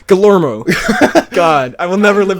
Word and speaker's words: Guillermo: And yes, I have learned how to pronounce Guillermo's name correctly. Guillermo. Guillermo.